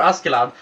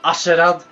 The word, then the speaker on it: Askeladd: I'm not gonna vote for Askeladd because that's how it's pronounced. Not Asherad, Askeladd.